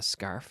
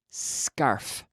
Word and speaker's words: scarf: No, scarf. So starting with the S consonant sound, there is no vowel in front.